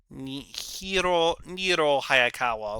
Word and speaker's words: Niro Hayakawa: Niro Hayakawa. Okay, Mr. There you go, that's how you pronounce that man's name.